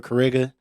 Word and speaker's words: XCariga: The X is silent for Kariga.